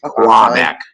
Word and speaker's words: Quebec: Quebec. It's Q-U is Qua, like quiet.